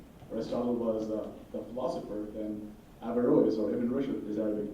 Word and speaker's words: Averroes: I dropped a syllable to make it easy, so it's Averroes, but it's pronounced Averroes in Latin, who was a Moorish Aristotelian.